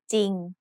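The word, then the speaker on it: จริง: เ ร ื อ but the ร อ เ ร ื อ is silent. So we pronounce this word as จ ร ิ ง Another important irregular spelling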